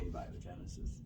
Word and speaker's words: abiogenesis: point that you can't explain what they call abiogenesis which is the origin of life it's called